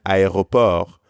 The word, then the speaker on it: aéroport: In French, you pronounce every letter of this word except for the final T.